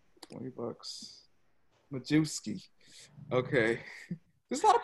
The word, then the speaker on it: Majewski: You gotta say it like that if you're from Jersey. $20. Majewski.